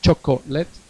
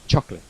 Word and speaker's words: chocolate: Acordaos que os comentaba ayer que la palabra chocolate no se pronuncia la O, no es chocolate, es chocolate, sin la O. Segunda O no suena en inglés.